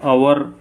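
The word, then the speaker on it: hour: है article in लगेगा power यहां पर एक साइलेंट है इसको हम अवर बोलते हैं यह लेटर कंसोनेंट लेकिन जो उच्चारण है वह वॉवेल है यहां पर अवर इसलिए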